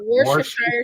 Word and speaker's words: Worcestershire: called Worcestershire sauce Worcestershire grasshopper sauce. juice because they That couldn't is the pronounce hardest it.